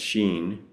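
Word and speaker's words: 心: One pronounced Setsu, one pronounced Shin, means touching the heart-mind.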